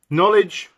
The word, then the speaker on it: knowledge: Knowledge. There we are, the don't forget the silent K at the start.